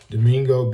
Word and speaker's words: Domingo: Let me spell it for you guys. Domingo being D-O-M-I-N-G-O, Domingo, de, D-E, Ugarcia, weird word for me, hard to pronounce, but it's spelling U-G-A-R-T-E-C-H-E-A.